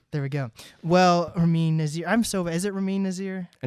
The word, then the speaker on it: Nazer: But I like Nazer. It's like laser, but oh, that is true. I mean, if we're in Iran, it would probably be pronounced Nazer. That's the actual one, but that's like a lot to put people through, I think.